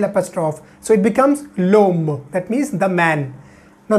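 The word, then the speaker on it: l'homme: and Silent Edge and here H is what H is silent that's why we are putting l apostrophe so it becomes loam that means the man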